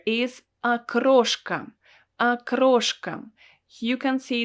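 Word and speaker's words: окрошка: don't pronounce it as okroshk because the first letter o is not stressed and that is why i pronounce it as a akroshka akroshka so akroshka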